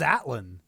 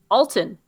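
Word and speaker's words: Altan: I thought it was Atlan. Alton. A-L-T-A-N.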